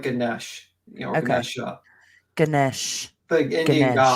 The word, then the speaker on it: Ganesha: Yeah, that's you can just type in like Ganesh, Okay. Ganesha, Ganesh. the Indian Ganesh. god, and you can see the Spell it. elephant-headed god. It's Ganesha.